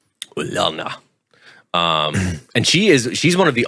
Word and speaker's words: Ulana: Yeah, I think they pronounce that with a U sound. Ulana.